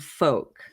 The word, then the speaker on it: Fouke: So it's spelled Fouke. Okay. But I've heard it pronounced Fouke and Folk. So either way.